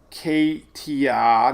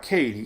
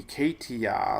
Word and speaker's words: Katia: But anyway, we got Arlene, Brett, Cindy, Dawn, Emily, Franklin, Gert, Harold, Idalia, Jose, Katia, not Katie, Katia, Lee, Margot, Nigel, Ophelia, Felipe.